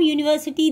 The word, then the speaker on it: university: The in words such as uniform, university, the letter is U. Pronounced as U, Y-U.